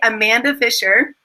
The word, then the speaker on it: Amanda Fisher: And today we are interviewing the sexy Amanda Fisher. Did I pronounce that right?